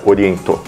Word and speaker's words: Orient: Assim, se você considerar que a marca é japonesa, a pronúncia no Japão é oriento, né? Então, todo mundo que fala oriento não está errado. Talvez seja a pronúncia mais correta porque a marca é japonesa e essa pronúncia no Japão.